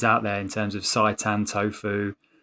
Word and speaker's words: seitan: What's seitan?